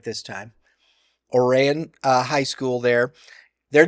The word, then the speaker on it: Oran: Oran and I said it right this time Oran uh High School there they're the defending class